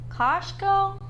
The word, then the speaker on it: Kościuszko: Kościuszko? If you have problems with pronouncing or spelling Kościuszko's name, don't worry.